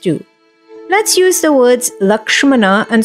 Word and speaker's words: Lakshmana: the text is written to the best of our ability we will try to adhere to Sanskrit or sanskritam pronunciations so one you may hear the word lakshman in Ram charit Manas